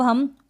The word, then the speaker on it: home: ई को तो आप प्रोनाउंस नहीं करेंगे, तो यहाँ पर हम ओ को क्या पढ़ेंगे, हम ओ को ये ओ पढ़ेंगे इस तरीके से, ओ। अब यहाँ पर ओ नहीं पढ़ेंगे, तो होम पढ़ा हमने, HOME, होम।